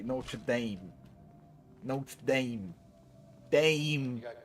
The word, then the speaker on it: Notre Dame: As the Americans say, Notre Dame.